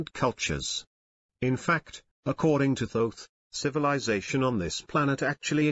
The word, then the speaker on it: Thoth: a man named thoth pronounced with a long o someday people say thorf but he pronounces it thoth the hieroglyph shows his